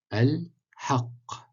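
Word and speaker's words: الحق: Al-haq, al-haq, donc shadda sur le qa.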